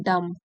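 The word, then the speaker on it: dumb: सकता उसको बोलते हैं डम बी साइलेंट होता है डम वन हु कैन नॉट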